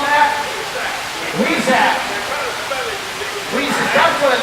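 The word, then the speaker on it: huisache: So if I can't pronounce it. What are they called, Matt? Weezak.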